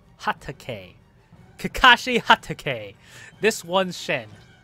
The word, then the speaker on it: Hatake: Hataka. Hateka. God dang it. I can't say it. Shit. Yo, okay. No. Yo. I butchered that, okay? I'm sorry. It's Kakashi Hatake, right? Hatake.